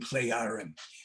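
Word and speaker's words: Plejaren: jump into pleiadians and play iron they pronounce the j as a y okay um in 1975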